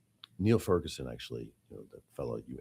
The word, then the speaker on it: Niall: the news coming out of China is how Niall Ferguson actually, the fellow you interviewed Oh, I know. Niall. in Davos uh has a great article Niall's Niall.